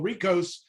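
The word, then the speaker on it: HRECOS: the mouthful we call ricohs the h is silent it took me a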